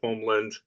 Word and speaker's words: Holmlund: name wrong also so I usually say homand my cousins say Homeland it's all good a